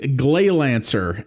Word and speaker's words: Gleylancer: america originally so yes this is glay lancer and yeah i did pronounce that right this is from the